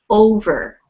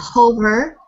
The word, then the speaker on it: over: Okay, so be careful when you have a vowel at the beginning of an English word. Do not put an H on it. This is over. Repeat. Over. Not Over. hover, over. No breath.